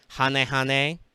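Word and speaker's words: Hane-Hane: there there are some core things here like hanehane that's how you're supposed to pronounce that man-eater bug armed ninja like there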